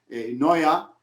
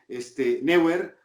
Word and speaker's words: Neuer: De por qué pronuncias Neuer cuando es Neuer, ¿no?